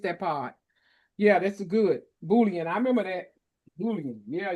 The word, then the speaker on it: Boolean: Maybe it's my Yeah, pronunciation. sorry about that. Yeah. It's okay. But Boolean.